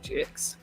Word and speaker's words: Twovix: Not spelled with T-U-V-I-X, but T2, as in two, the number 2, Twovix.